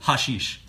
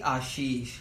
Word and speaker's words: Ashish: And welcome to you too, Hashish. It's actually Ashish. The H at the start is silent.